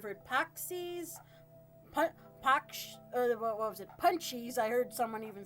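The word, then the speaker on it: pączki: And I'm like, oh, I've heard them pronounced paxi. And he's like, they're punchies.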